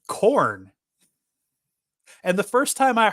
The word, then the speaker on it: Khorne: to go for, well, some people might pronounce it Karn, which would be short for carnal or charnel or whatever, whichever one's the brutal one, not the reproductive one. But they named him Corn.